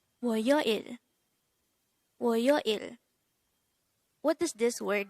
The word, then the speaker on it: 월요일: This is pronounced as a three-syllable. The first syllable is wo, second syllable is yo, and the third syllable is il. Pronounce it with me. WORYOIL. WORYOIL.